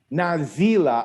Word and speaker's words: Nazila: It's Nazila. I was putting the wrong emphasis on the wrong syllable.